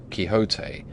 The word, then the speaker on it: Quixote: misfortune to know that the gentleman's name is pronounced Quixote when ignorant from out of